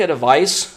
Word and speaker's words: advice: देखिए, ADVIC, जहाँ पर C है, इसको बोलते हैं वॉइसलेस. वॉइसलेस साउंड है यहाँ पर. जैसे यहाँ पर लास्ट में स का साउंड सुनना चाहिए, जैसे एडवाइस. एडवाइस. एक आपने देखा होगा ADVISE होता है, S. जहां S होता है उसको बोलते हैं वॉइस्ड साउंड. वहां पर वॉइस्ड साउंड से आप प्रोनाउंस करेंगे इसे, और आप प्रोनाउंस करेंगे एडवाइज, एडवाइज.